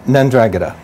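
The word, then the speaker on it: 'Ndrangheta: Pronounce that name again for me? Ndrangheta. Ndrangheta. And that is Italian.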